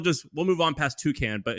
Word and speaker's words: Toucan: By the way, we should say Toucan is like the bird toucan Sam type of thing.